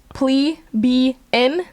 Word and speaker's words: plebeian: A plebeian pronounced plebn or a plebbe is the it's Yeah, it's a pleb.